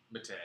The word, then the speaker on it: Mattei: or Matai? Matei. Mattei. Oh It man. rhymes with okay. Just like a George Takei.